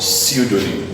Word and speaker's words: pseudonym: This word is called pseudonym. I told you already that whenever you have a word start with PS, automatically the P is silent.